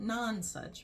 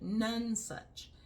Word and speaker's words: Nonesuch: So sorry, Francis, but the book is called None Such. Not nonsuch, but none such.